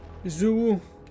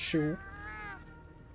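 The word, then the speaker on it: Xu Wu: Zou ou Shewu. Apparemment ça se prononce Shewu.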